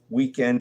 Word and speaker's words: Weeknd: Weekend is spelled Weeknd. There's no E in end.